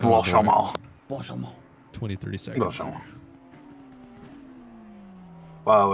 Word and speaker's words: Blanchimont: second and the third, we've got It's pronounced Oh, boy. Blanchimont.